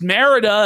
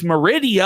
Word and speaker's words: Merida: But I guess not because J was embarrassed that he pronounced Merida as Meridia.